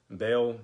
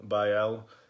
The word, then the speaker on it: Baal: So when you look up the seal of Baal on Google, whatever you have, it's a complete image, a complete seal of that.